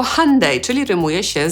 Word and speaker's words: Hyundai: Hyundai po angielsku przeczytamy jako /ˈhʌndeɪ/, czyli rymuje się z Sunday.